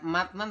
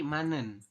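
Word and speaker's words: 맞는: n Oke Betul ya ini Z di akhir ketemu dengan Nin maka Z tersebut dibacanya n nah jadi bukan matnen tapi manen seperti itu ya Benar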